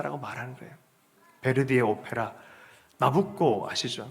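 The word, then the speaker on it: Nabucco: 베르디의 오페라 나부코 아시죠? 나부코가 이탈리아 발음으로 느부갓네살 왕을 나부코라 그래요.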